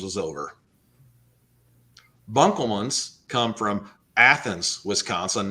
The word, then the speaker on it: Athens: By the way, we pronounce it Athens, not Athens.